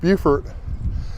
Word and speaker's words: Beaufort: I found out why Beaufort, South Carolina is pronounced Beaufort.